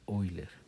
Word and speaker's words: Euler: Se escribe euler y se pronuncia Oiler.